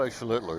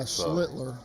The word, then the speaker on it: Schlittler: Yeah, I've heard him say Schlittler is how they say it, so that's how I'm calling it. Yeah, Schlittler.